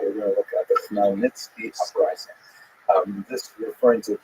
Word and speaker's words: Khmelnytsky: And it's sometimes spelled in Roman characters with the Polish spelling, making it look something like Khmelnytsky. It's actually pronounced Khmelnytsky with a guttural at the beginning.